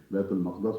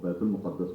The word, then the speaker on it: بیت المقدس: دونوں تلفظ ہیں اس کے، بیت المقدس بھی ہے اور بیت المقدس بھی ہے.